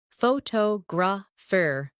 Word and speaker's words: photographer: For example, photograph, photographer, and photographic. The stress moves and that changes the sound.